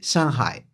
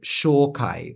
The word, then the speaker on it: 上海: a port city and in Japanese they say Shanghai which is basically just an adaptation a direct loaning of the pronunciation. But if you really wanted to be funny, you could pronounce it shai or jawai, which would be pronouncing it using the Chinese pronunciations of those characters in Japanese because these are again